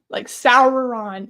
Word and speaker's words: Sauron: Sauron, like it sounded like that. Like there's the R is always pronounced.